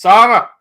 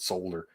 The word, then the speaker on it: solder: It's like we don't pronounce the L in solder. We all turn into Michael Crest or Donnie. We're all from fucking Massachusetts. It's solder. Solder. My dad called it solder.